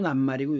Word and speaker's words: 낱말: not r 원래는 이것이 not티 이렇게 돼야 되는데 이것도 난말이고 이것도 난말이기 때문에 뜻을 지니고 있기 때문에 일단 끊어서 끊어서 발음을 해야 됩니다.